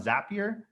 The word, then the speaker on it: Zapier: I know that Zap, like it's a zap. Zap. Okay, go. Zapier. So the idea here is that if you were to do something like that on Zapier, I mean, FUB made